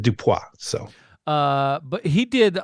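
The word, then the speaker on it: Dupieux: the director Quinton dup I'm going to say that as Frenchy as I can I'm sure it's probably yeah I'm gonna I'm gonna pronounce it dupa so uh but he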